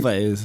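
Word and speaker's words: Elwes: It's a funny Elways. Elways. Elways. Elways. I'm going to say that's how you pronounce it.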